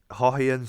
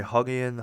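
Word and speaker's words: Haughian: Uh, um, and my name's Hawhian, like, so it's very hard to pronounce because we're like GH bros, okay? Because HAUGH, Hawhian, some people say Huggian, Hawkian, or Hawkin, or Huggian.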